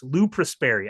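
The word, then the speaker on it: Lou Prosperi: Lou Prespary. I should have asked, am I pronouncing your name correctly?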